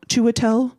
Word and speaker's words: Chiwetel: Chiwetel Ejiofor? Chiwetel.